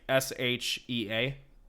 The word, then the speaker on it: Shea: Shea Stadium where they it's like s-h-e-a I think but it's pronounced Shea I guess but yeah it's this